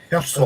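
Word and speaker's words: Hirsel: Here's how's that actually pronounced, Brian? Herzl.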